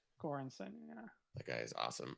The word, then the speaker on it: Göransson: Thanks, RFB, for the proper pronunciation of Ludwig's last name, Göransson. Göransson, yeah.